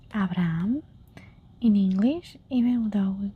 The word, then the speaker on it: Abraham: so we have um since we don't pronounce the H. This is Abraham. Abraham we forget completely about the H. In English we say Abraham. You notice the difference. In Spanish we say Abraham.